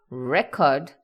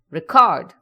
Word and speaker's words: record: If I say record, I'm talking about music. But if I say record, it means to save something.